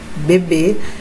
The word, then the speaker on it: beber: Ok então Observe que na palavra beber beber nós estamos o quê uma sílaba forte né que seria aí tá na última sílaba então Observe se eu